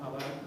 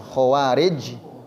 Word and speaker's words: Khawarij: Itu soal pelafalan aja. Kalau orang yang enggak faseh, bahasa Arab hawarid ngomongnya. Ada saya apa zakat itu hawariun. Oh, hawari ya. Kalau hawariyun lain kan ini tadi khawarij pakai k ya.